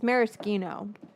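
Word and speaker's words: maraschino: I didn't know marishino cherries weren't that. But it's marisino if you want to say it like an Italian.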